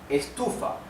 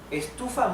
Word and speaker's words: estufa: For example, the word estufa. Estufa means heater, a heater, to produce heat, right? Estufa. The sílaba tónica is tu. Estufa, because the accent, the stress is in the second syllable.